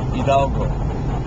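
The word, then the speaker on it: Hidalgo: of course the H of silent so it's pronounced idalgo you see the the road is very pretty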